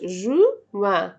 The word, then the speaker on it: juin: قلنا janvier, février, janvier, février, mars, avril, mai, juin, juillet, juin. الإن متنطقش. juin.